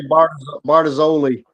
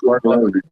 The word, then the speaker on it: Bartolozzi: I would say Bardazoli. It's Bartolozzi.